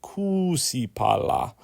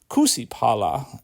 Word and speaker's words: kuusipala: If there's a double syllable, you really have to stress it. Failure to do so results in the speaker saying things they didn't intend to. For example, if I said kusipala instead of kuusipala, then it would have